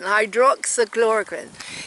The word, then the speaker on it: hydroxychloroquine: get well with hydro hydroxychloroquine you have to pronounce it properly you have to put the emphasis on hydroxyl chloroquine hydroxychloroquine yes it will prevent it